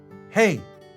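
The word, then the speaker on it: hej: Hey. Pronounce H-A-Y, like hey.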